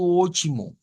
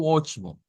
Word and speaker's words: ótimo: Aquí tenemos algo interesante y es que la, la T, la T, hemos dicho que la T se convierte en el portugués a una especie de CH. Entonces, la transliteración nos pone directamente una CH, vea, como ochi.